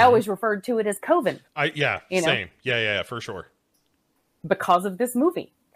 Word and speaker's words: Coven: pronounces it Coven because Coven sounds like oven. And I mean, if you remember back when American Horror Story season 3 was out, Coven. Mm-hmm. I always referred to it as Coven.